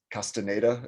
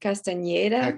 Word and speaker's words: Castañeda: I know it's Castaneda is how you probably pronounce it. Have you heard of Carlos Castaneda? Yeah, I Okay, think there's like an Nye, so it's like Castañeda, but I could be wrong.